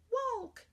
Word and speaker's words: walk: think to spell walk walk you say it woke alright how many syllables